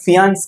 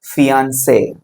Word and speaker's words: fiancé: ஸோ இதை எப்படி வாசிப்பீங்க? ஃபியான்ஸ் கிடையாது, ஃபியான்சே.